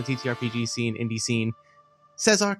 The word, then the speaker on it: Cezar: Cezar, welcome, and thank you so much for coming on.